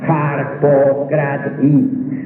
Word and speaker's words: Harpócrates: Los griegos se adormecían concentrados totalmente en Harpócrates y pronunciaban su nombre así: Harpócrates.